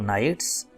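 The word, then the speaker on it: knights: Great barons नवाब, brave नाइट्स बहादुर जंगजू, के silent जैसा कि आपको पता है।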